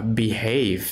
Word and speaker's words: behave: ประพฤติ ตน ใน ภาษา อังกฤษ จะ อ่าน ว่า behave สระ a เด้อ อ่า ค อ่าน ตัว เดียว